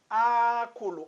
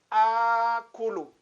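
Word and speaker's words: آكُلُ: Então, é desta forma que nós devemos pronunciar. Tem que alongar aqui. Akulu. Ana, akulu.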